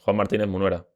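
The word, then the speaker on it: Juan Martínez Munuera: Juan Martínez, perdón, Juan Martínez Munera, eh, detallitos.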